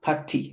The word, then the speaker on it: party: Yeah, to a party. Remember, pronunciation Y is always E. So party.